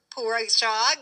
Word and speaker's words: Poureshagh: That's Edgar Poureshagh.